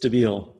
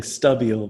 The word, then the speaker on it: Stabile: least say it correct it's just stabile you're saying stubble but it's just my